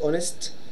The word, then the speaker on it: honest: hitch in here guys silent yeah we write it but we don't actually pronounce it yeah honest Bravo okay